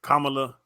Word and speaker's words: Kamala: And I don't even know how to say her name. I think it's Kamala. I don't know. Kamala, yeah. I hugged her picture.